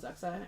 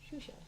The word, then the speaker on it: Xuxa: In Brazil, there is a person called Zuxa, but it's Xuxa. That's how it's Xuxa? pronounced. Shusha. Xuxa.